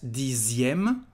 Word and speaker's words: dixième: Just pay attention to the pronunciation, the letter X, dixième.